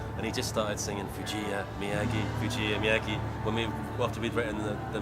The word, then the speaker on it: Fujiya: And how is it pronounced? Fujiya and Miyagi.